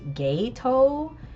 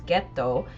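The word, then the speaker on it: Geto: talking about jiu-jitsu kaizen, they pronounce uh ghetto as ghetto. And I'm like, why does everyone pronounce it like this? I don't understand. It's ghetto. And I realized that the dub pronounces it like that.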